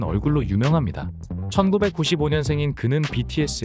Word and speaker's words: 뷔: 유명합니다 1995년 생인 그는 bts 의 서브보컬 입니다 그의 예명은 라틴 문자 부위 이지만 부위가 아니라 b 라고 발음합니다 파이브 의 수장 방시혁이